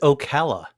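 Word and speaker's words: Ocala: I'm going to say I don't know how you say this Okala Comic Con I think it will be pronounced but someone will it it is Okala and that is actually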